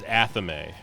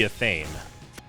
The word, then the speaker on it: athame: The correct pronunciation of the word is Athame.